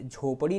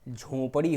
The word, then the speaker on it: झोंपड़ी: अगला ये देखिए, पिछले वाले वीडियो में बताया गया था कि झोपड़ी नहीं होता है, झोंपड़ी होता है, झोंपड़ी।